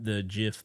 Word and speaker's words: GIF: Jif. See, you say it wrong. You know, it's like the peanut butter.